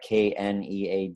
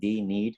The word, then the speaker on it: knead: Am I saying it right? KNEAD, knead? Yeah, knead. Yeah, you knead those adhesions